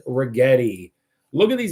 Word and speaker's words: Rigetti: It is rhymes with spaghetti. It is Rigetti.